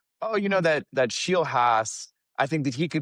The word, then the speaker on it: Scheelhaase: Now, I'll still have to be fighting the Yinzer in me that wants to make it Scheelhaase, but at least now I know that I think it's supposed to be pronounced Scheelhaase. And you had me second